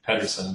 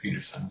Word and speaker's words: Pederson: So it looks like Pederson, but it's pronounced Pederson.